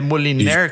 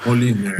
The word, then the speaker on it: Moliner: É, é Moliner que fala, que pronuncia, mano. Moliner.